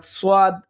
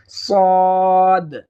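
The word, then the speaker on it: صاد: এরপরে সদ সদ, এই হরফটি উচ্চারণের ক্ষেত্রে আমরা অনেকেই ভুল করে থাকি, অর্থাৎ সোয়াদ সোয়াদ বলে থাকি, কিন্তু মূল উচ্চারণটা হচ্ছে সদ সদ।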